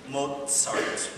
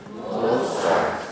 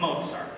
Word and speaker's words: Mozart: things came from mozar everybody say with me Mozart moart not moart no it's it's Mozart okay I know it's a